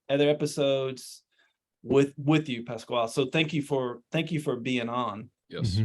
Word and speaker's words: Pasquale: to have a guest um our guest is Pasquale am I pronouncing that right that's right Pascual